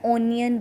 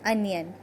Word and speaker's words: onion: अब प्याज की इंग्लिश अनियन है, लेकिन कुछ लोग इसको ओनियन बोलते हैं, तो but that is the wrong pronunciation of इट। So correct one इज़ अनियन।